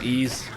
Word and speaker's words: Ys: eight why it's called y s y S8 so ease that's how it's pronounced it came out the